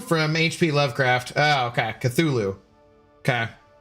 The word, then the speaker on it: Cthulhu: It's pronounced Cthulhu from HP Lovecraft. Oh, okay. Cthulhu. Okay. Cthulhu.